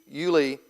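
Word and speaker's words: Ulai: that uh Julie Canal it's hard to determine how you're supposed to pronounce that but everywhere I've heard it said it said Yuli so I'm going to call it Julie uh the Yulie canal and then I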